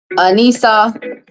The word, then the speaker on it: Anissa: And she told me the right way to pronounce her name. Anissa.